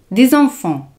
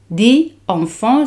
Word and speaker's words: des enfants: El plural de niños o hijos en francés se dice des enfants. Des enfants se hace la liaison.